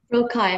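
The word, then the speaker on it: rocaille: Rokai. May I please have all the information? Yeah, it can be pronounced rokai or rokai.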